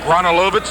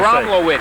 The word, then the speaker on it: Gromowitz: So it is conceivable that, however you say, Romalovitz, is that how you pronounce it? Romalovitz? Romalovitz, it could be hurt. Chris will Gromowitz. Gromowitz. Oh, we got an M in there.